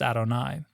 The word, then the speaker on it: Adonai: my Lord, a special form of it that's pronounced Adonai.